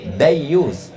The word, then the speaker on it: dayus: Bukan gayus. Gayus pegawai pajak, pakai D, dayus.